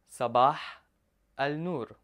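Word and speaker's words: صباح النور: answer this I would say Sabha on or Sabah nur sabaha Al Noor now let's break it down Saba means morning Al Noor means light so literally I'm saying here morning light Sabah L nor so if I were to tell you Sabah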